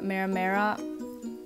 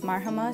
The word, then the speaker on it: Mariama: between Mahama and I've heard mera mera that one's a little strange but my name is Mariama thank you for learning